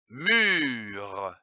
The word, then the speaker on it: mûre: L'association de ces deux syllabes mu et re donne mur, comme une mûre. Attention, ici, l'accent circonflexe sur le U. Il faut allonger le U. Une mûre.